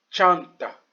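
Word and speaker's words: çanta: Chanta. Chanta. Voilà la prononciation en français.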